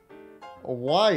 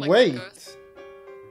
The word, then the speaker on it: Wight: It's not spelled the way you think it is. It's spelled W-I-G-H-T. We got our boys. You guys can't spell it. There's ghosts there. Yeah. White. Hold up. Like the ghosts? Yeah. Oh, you mean wait? It's not wait either, you buggy pig.